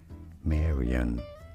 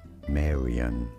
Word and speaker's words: Marion: In English, this is generally said as Marion, Marion.